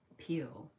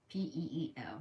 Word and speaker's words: Peale: But that book is by Norman Vincent Peale, I think is how you say it. Peel.